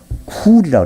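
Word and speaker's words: חול: 원래 이제 히브리 말로 이 모래를 훌이라고 그래요. 훌하고 쿨의 중간 발음인데 훌이라고 그래요.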